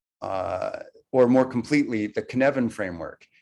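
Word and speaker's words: Cynefin: or more completely the kinevin framework based on a welsh word which is pronounced kanevin that roughly translates as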